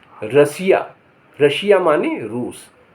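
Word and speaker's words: Russia: माने महल आर U double S आई ए रशिया रशिया माने रूस टी के उच्चारण टी के स्थिति के हिसाब से यह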